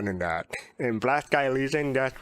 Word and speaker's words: Elysian: And Black Sky Elysian, that's right.